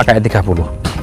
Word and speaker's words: KE30: Jadi ini Corolla, tapi tulisannya bukan ke 30 ya, bacanya KE 30.